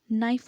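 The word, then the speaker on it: knife: अब कहीं कहीं पे आपने देखा होगा कि कुछ वर्ड्स होते हैं, ठीक है, जैसे आपका नाइफ होता है, ठीक है, उसमें आपका के साइलेंट रहता है, और कहीं कहीं पर आपके वर्ड्स जो होते हैं वो साइलेंट रहते हैं।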